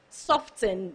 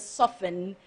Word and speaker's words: soften: Soften, the T is silent, it is soften.